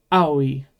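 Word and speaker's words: あおい: We'll talk more about that later, but yeah, aoi. Kind of like I have an aoi. But in this case, make sure you're pronouncing every letter.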